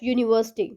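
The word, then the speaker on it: university: यूनिवर्सिटी हमारा यू से start होता है, लेकिन प्रोनाउंसिएशन में हम इसको पढ़ रहे हैं यू, य हिंदी में व्यंजन है और जिसको हम कहते हैं इंग्लिश में कॉन्सोनेंट, तो ये भी है एक कॉन्सोनेंट का साउंड प्रोड्यूस कर रहा है, तो इसीलिए हम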